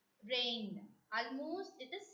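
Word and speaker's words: reine: Next vowel sound, A-I-E-I, which has to be pronounced as A.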